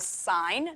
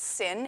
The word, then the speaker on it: sine: these before so the first one we call sign not sin it's called s s